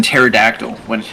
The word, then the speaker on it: pterodactyl: So why can't you hear the pee in pterodactyl when it's going to the bathroom? Why? The pee is silent.